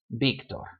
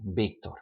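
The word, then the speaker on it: Víctor: So if you ever meet someone named Victor, his name will be spelled like that, but it's pronounced Victor. Just like if it were a big B, Victor.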